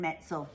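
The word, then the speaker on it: Metzl: And it's by Jonathan Metsel. Metsel rhymes with pretzel.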